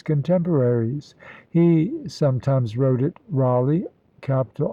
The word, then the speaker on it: Raleigh: he sometimes wrote it Raleigh capital r a l egh the last syllable probably pronounced l-y or l-a-y Raleigh Capital r-a-l-e-g-h appears